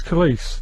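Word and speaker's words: Khaleesi: Kellis, but you think it's definitely pronounced Khalees. It's Khalees. Like police, isn't it? Khalees, police. So that's a handy tip to remember Khalees. It rhymes with police.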